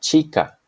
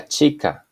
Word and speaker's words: chica: a sound as found in the word La chica La chica the girl the sound corresponding to J or